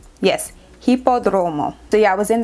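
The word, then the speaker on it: Hipódromo: I actually stayed at a Sonder location that was in the Roma area, the Hippodroma area. Let me just get my phone to make sure I'm pronouncing that correctly. Yes, Hippodromo.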